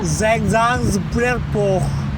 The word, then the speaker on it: Saint-Jean-Pied-de-Port: 저희가 프랑스 길을 걸었고, 생장드 피에르포부터, 이게 프랑스 발음이라 생장브라보 생장드 피에르포, 여기서부터 산티아고 데 콤포스텔라까지 가는 모든 비용은 총 얼마인가요?